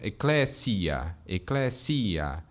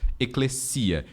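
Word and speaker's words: ἐκκλησία: Então, é natural... Eclésia. Seria alguma coisa assim. Mas, geralmente, os acadêmicos pronunciam como se fosse português, com acento, então, eclesia. E o S, mesmo entre vogais, a gente sempre pronuncia ele surdo.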